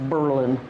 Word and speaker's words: Berlin: I may correct you it was Berlin Wisconsin pronounced Berlin he started with the